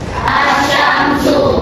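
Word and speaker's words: الشمس: Asyamsu. Lamnya dibaca atau tidak? Tidak. Berarti dia dibaca samar. Langsung masuk ke huruf setelah ya asyamsu.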